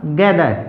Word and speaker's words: gather: इसी प्रकार से अगला वर्ड हमारा गैदर, GATHER गैदर, THE आया है उच्चारण हुआ दे, रे यहाँ पर साइलेंट।